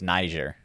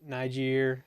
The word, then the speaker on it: Niger: It's Niger. Yeah. You pronounce it. Niger, sometimes.